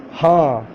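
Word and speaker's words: ہاں: In Roman Urdu, J double E, G, Ha, H A N, Ha, G, Ha, G, Ha.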